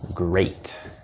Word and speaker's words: great: For example, in the word great, this is actually A, although we do have the word greet, which is spelled with two E's.